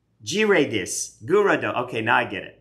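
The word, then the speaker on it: Gyarados: Girados. Girados. Gurado.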